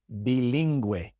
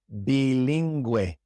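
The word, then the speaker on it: bilingüe: When you see G-U-E or G-U-I with two dots above the U, it means we pronounce the U, as in bilingue, bilingue, linguista, linguista. In these two words, we pronounce the U because it has those two dots.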